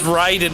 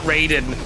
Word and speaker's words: Raiden: Also, it's Raiden, not Raiden. This is not Mortal Kombat. Yeah, the Mortal Kombat games went with the wrong pronunciation of Raiden and just stuck with it because, like, it's too late to change it now.